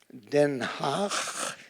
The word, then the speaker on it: Den Haag: And the underground came up with 2 women in the city of The Hague, Den Haag, as it is pronounced.